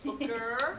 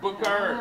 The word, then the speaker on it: Booker: Booker. Booker. Book with an R. Like Booker T. Washington.